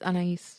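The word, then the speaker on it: Anaïs: It's by Anais Nin, or Anais Nin, however you want to say her name. I think it's Anais. It's Anais. It's Anais. I was right the first time?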